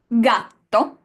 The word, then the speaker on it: gatto: Gatto, that's him, and gelato. No need to translate. The same letter, la G, but g, hard g sound in gatto and the j sound in gelato.